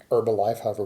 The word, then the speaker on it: Herbalife: this is involving Herbalife Herbalife however we pronounce it I believe ain't supposed to be silent and herbs should know